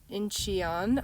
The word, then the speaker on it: Incheon: But look, this is the Seoul airport, Incheon, I believe it's pronounced.